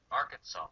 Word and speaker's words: Arkansas: when you're dealing with nouns that end in a silent s like Arkansas and Illinois some people add an